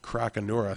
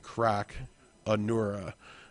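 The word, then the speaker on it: Crocanura: So, uh, maybe in order to, uh, boost up his crocura. So, it's a crocodile. So, I need to be saying croc Anura. Uh, looks like the uh the more correct way to pronounce that card.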